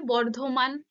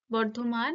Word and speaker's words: বর্ধমান: ধ্বনির একটা পরিবর্তন ঘটছে আবার যেমন বর্ধমান বাংলায় লিখলে বর্ধমান বর্ধমান উচ্চারিত হয় সেটা যখন লেখা হয় এরকম ইংরেজিতে কি হয় কিছু কিছু ক্ষেত্রে যে বার্ডোয়ান এরকম একটা হয় উচ্চারণ কিন্তু ওটা বলতে বর্ধমানকেই বোঝানো হচ্ছে কিন্তু এই যে সমবর্ণের